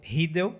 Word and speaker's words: Riedel: Governador do estado do Mato Grosso do Sul, Eduardo Riedel. A gente não pronuncia o E que tem aqui no meio.